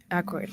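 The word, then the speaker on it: Aykroyd: Um, so I researched Dan Arody. I think that's how you say his name. Dan Akroyd. Akoid.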